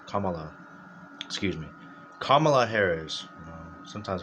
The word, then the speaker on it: Kamala: I don't remember, it's not Kamala, it's Kamala. Excuse me. Kamala Harris. Sometimes hard to pronounce it. I used to say Kamala. It's actually Kamala.